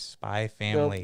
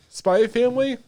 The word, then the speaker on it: Spy x Family: all say no do you don't pronounce the x i want proof i want proof i want video proof dude spy family okay i'm gonna be